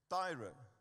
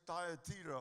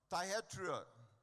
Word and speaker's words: Thyatira: And very specifically in the church of, how do I pronounce that word, Grant? Tyre, it's actually Thyatira or whatever. Thyatira, amen?